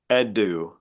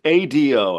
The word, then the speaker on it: Ado: have we heard of a performer named edu it's Ado I I just I